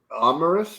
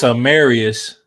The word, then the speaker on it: Amarius: I got him taking Amaris Mims. I don't know how to say his first name. I saw his pro day. It's one of those names you hear, and I just forgot. It's Amarius.